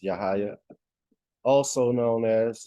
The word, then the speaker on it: Yahya: been that been rabbi now I've been Rabbi pronounce yahaya also known as yahaya The Negro the Negro who was a Portuguese